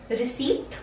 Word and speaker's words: receipt: Receipt, क्योंकि यहाँ पे P है, but you will not pronounce the word P.